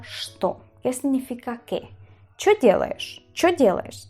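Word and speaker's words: что: casi todos los pueblos, se dicen cho. Directamente se dice cho. Si escucháis algú alguna vez decir el cho, esto es igual a sto.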